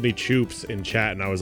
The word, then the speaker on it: choops: Is it choops or chops? How can you not miss? It's impossible to mispronounce choops. It's literally impossible.